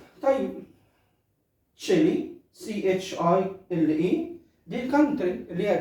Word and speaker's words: Chile: كلمات بعديها تشيلي، نفس النطق واحد لكن الكتابة بتختلف. طيب تشيلي CHILE دي الكونتري اللي هي دولة تشيلي.